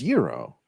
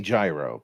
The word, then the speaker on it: gyro: I've heard them all G it's Euro but I say gyro because it's more fun but I'm saying it wrong and I know that really is that